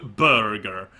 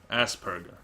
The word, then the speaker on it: Asperger: it's not spelled ASP it's not spelled ASP Burger it's it's it's no be there's no B in there it's spell it's spelled asger so perger not Burger perger Asperger I heard Asbergers isn't